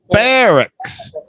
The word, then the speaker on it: barracks: again all right yeah it looks like Barak but it's pronounced with an E Barracks these are the